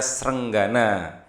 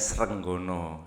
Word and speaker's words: Srenggana: Nah, ini Raja Kediri yang bernama Raja Srenggana. Ya, kalau dulu bacanya Srenggono ya, diberi judul Sri Maharaja Sri Sarwekwara Tri, panjang pokoknya namanya ya.